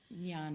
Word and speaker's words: jnana: how do you spell that how do you pronounce that yeah so Nana and we do bring that aspect of Nana